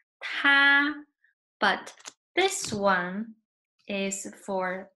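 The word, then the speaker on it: 他: with this radical so two characters they pronounce the same both of them is ta but this one is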